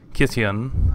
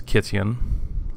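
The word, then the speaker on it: Kytheon: First is Kityan. I think it's Kityan. This is a Greek pronunciation, I'm pretty sure, which is the Greek pronunciation of Gideon.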